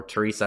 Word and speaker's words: Theresa: And that being the nice old nun, Theresa, or Teresa, I don't know how that's pronounced. I think the H is silent, probably a reference to Mother Teresa.